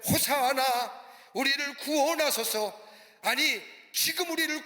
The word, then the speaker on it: 호산나: 그리고 많은 무리들이 예수님의 뒤를 따라서 호산나 호산나라고 외칩니다. 호산나라만 우리나라로 표현하면 만세 만세라고 하는 의미가 담겨져 있습니다. 히브리 원문대로 발음하자면 호사나, 우리를 구원하소서, 아니 지금